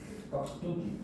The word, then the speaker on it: 깍두기: 깍두기. 네. 얘 발음을 하면 어떻게 난다? 깍두기로 나죠.